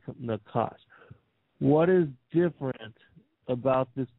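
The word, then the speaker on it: נָחָשׁ: Nachash is pronounced Nachash.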